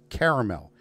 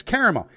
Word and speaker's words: caramel: called and he goes caramel i go no no no it's caramel if it wanted to be pronounced caramel it'd be spelt c-a-r-m-e-l it is not you put an extra a and it's caramel it is chango not